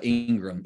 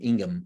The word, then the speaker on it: Ingham: Jones Dr Elaine uh Ingram Ingham I always say her last name wrong uh Dr David Johnson